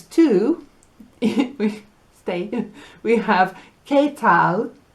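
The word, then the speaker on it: qué tal: we stay we have ketal which means how are you spelled with a q u so it's not it's k k tal and we have mucho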